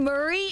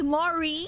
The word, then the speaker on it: Mari: That's it's like not Murray, it's the granddaddy. It's oh, there's more E. Mari. Yeah, Mari. No! Mari? It is not Murray.